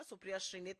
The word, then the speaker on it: सुप्रिया श्रीनेत: दे दिया कि मेरा नाम याद रखिएगा और उच्चारण सही करिएगा। सुप्रिया श्रीनेत मेरा नाम है, मैं उत्तर प्रदेश महाराजगंज से आती हूँ।